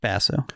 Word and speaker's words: Basso: Basso.